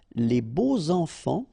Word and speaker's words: beaux enfants: And here it's quite interesting because even if you've got this X, well, phonetically it will be like Z, so like if it would be an S, okay?